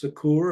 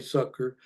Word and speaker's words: succor: For in that he himself has suffered being tempted, he is able to succor, and I've heard this pronounced succour, I looked it up, it's mainly succor, them that are tempted.